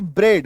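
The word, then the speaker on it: bread: ये देखो जैसे बी आर ई ए डी ये पूरा पेयर है। जोड़ा है। है ना? ये और ये शब्द के बीच में आएगा मैक्सिमम टाइम। ठीक है? बी आर इ ए डी ब्रेड। उच्चारण क्या हो रहा है? ब्रेड।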